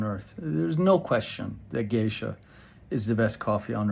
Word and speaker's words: Geisha: um got respelled to be like the Japanese gisha GE i s ha some companies still spell it GE ha they're both the same thing